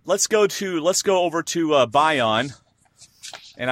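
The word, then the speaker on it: Bayon: All right, let's go over to Bion, and I wrote it out phonetically so I'd say it right. Bion, B-U-Y-O-N.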